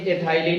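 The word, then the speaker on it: ethylene: Pronunciation के तौर पर कभी एथाइलिन इसी को लिख दिया जाता है, कंफ्यूजन की कोई बात नहीं होनी चाहिए।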